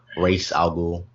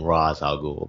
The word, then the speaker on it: Ra's al Ghul: I know some people pronounce his name Ra's al Ghul, but it's Ra's. I think Batman Begins they pronounced it Ra's. They did say it Ra's, and I don't know which is not the correct term.